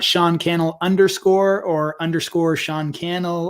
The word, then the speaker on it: Cannell: to serve and so my name is Sean Cannell rhymes with YouTube channel you can find Sean